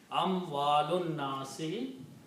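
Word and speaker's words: أموال الناس: Amwalun nasi, because you do not pronounce this alif here again.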